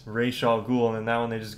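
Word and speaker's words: Ra's al Ghul: many pg-13 movies and i know that they mispronounced his name in the game too or in the movie sorry he was in batman begins played by liam neeson and yeah his name is ray shaw ghoul and that one they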